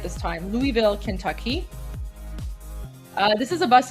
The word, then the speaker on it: Louisville: I pronounced it right this time. Louisville, Kentucky.